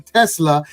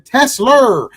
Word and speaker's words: Tesla: how to say it he's not saying Tesla he's saying tesler I love these tesl